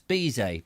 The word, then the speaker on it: Bizet: It's Bizet. Very busy man. He's so busy, he can't even pronounce the T on the end of his surname.